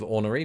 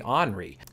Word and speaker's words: ornery: rather the pronunciation of ornery. Do you pronounce it with an R in that first R, or do you just drop it and say ornery?